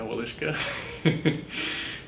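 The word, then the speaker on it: Wieliczka: And one of the primary ones is the Woliszka salt mine in Poland. Is my pronunciation on that right? Yeah, Woliszka.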